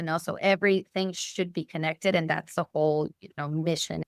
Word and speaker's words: Kinnect: So I recently launched the Women in Wealth division at Connect Financial, and Connect is spelled Kinnect. So not like connect, but connect.